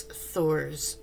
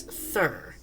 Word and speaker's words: Thor: is mispronouncing it but she doesn't pronounce it as Thor it's thur he is the Thunder God Thor and I mean